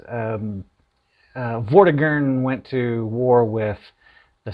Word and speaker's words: Vortigern: it says um uh vortigern went to war with the saxon king hingst and then if you if you uh go in here then you uh that's not that's uh it's pronounced vordigan uh tyrant uh going